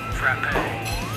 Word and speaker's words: frappe: Frappe. Frappe, that's how you pronounce it.